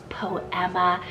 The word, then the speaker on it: Poema: also have the Spanish name poema from p-o-e-m-a po Emma this is beautiful it means a little poem